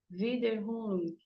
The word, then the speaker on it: Wiederholung: Então, pessoal, eu recebi um convite, né, para falar no Trilhas, para trabalhar esse conceito da repetição, Wiederholung, assim que pronuncia, né, com Freud.